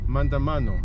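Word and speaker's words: maandamano: Mandamano. Mandamano.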